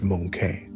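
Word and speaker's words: Möngke: Her eldest son, Monke, pronounced Monke, was elected as the fourth Great Khan.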